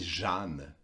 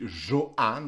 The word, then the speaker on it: Jehane: à waouh ce gars ça s'écrit Johan mais c'est Jeanne mes parents j'ai longtemps dit Johan avant qu'il me corrige et que plus tard